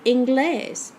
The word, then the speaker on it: inglés: It's a rule 1 word because it ends in an S. So if there were no written accent mark on it, you would have to say English with the accent on the second to last syllable. But that's not what we say. We say inglés.